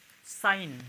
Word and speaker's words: sign: तो इसमें जी जो है साइलेंट रहेगा, यानी जी पढ़ा नहीं जाएगा, लिखा जाएगा लेकिन पढ़ा नहीं जाएगा।